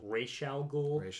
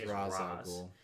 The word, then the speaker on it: Ra's al Ghul: Yes, now, the proper pronunciation for it is Ra's al Ghul, but the popular pronunciation is Ra's al Ghul.